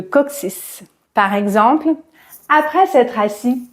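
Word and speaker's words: coccyx: Co CC y X et sa prononciation est légèrement différente puisqu'on le prononce de cette manière cooc 6 le COC 6 par exemple après s'être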